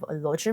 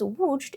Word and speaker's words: Łódź: Łódźer mensch is because Łódź is pronounced Łódź, and not Łódź, because it's not spelled Łódź, because the Polish o is not the English L, it's pronounced more like the English W.